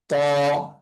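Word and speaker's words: ط: তো তা এর উচ্চারণটা নর্মাল ভাবে উচ্চারণ হবে ত একার তা বা তা জবর তা, কিন্তু ত এর উচ্চারণটা একটু পার্থক্য আছে। ত এর উচ্চারণটা হবে একটু মোটা করে। হ্যাঁ, ত। ত। ত, জিহ্বাটা একটু আহ, আহ, ভারী হয়ে এবং মুখের আওয়াজ একটু ভারী হয়ে উচ্চারণ হবে।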